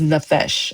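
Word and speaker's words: נפש: Soul means nephesh. And it is basically Well, the way you pronounce it, I'm sorry, is nephesh. I said it wrong.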